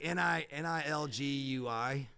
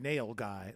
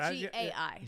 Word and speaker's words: nilgai: Yeah, I wish you wouldn't have told me that because I misspell it every time. It's like Nilgui, and that's probably wrong. I heard nail guy, like a guy with a hammer. Nilgai.